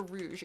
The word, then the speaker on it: rouge: Is it pronounced rogue or rouge? It depends on the spelling. If it's French, it's rouge. If it's English, it's rogue. Cause in Sonic, I'm pretty sure it's rouge. Because it's supposed to be red.